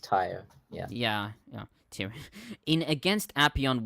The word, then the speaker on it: Tyre: In but against the city is pronounced Tyre.